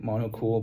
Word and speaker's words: Monoqool: And it's spelled like mono cool, but then instead of the C, it's the Q. So, it's like mono cool, but again, it's kind of like mono cool.